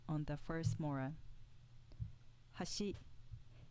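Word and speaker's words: 橋: on the first mora hashi meaning bridge with an accent on the second mora hashi meaning edge with no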